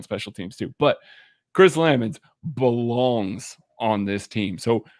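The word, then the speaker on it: Lammons: Craig, is it Chris Lamons or Lamons? It is Lamons per the Chiefs pronunciation guide.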